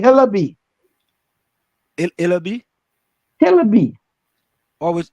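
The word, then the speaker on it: Hillaby: all right make sure you make sure you're pronounce it right hello B it'll be always it's i-l-l-i-b-y h-i-l-l-a-b-y look at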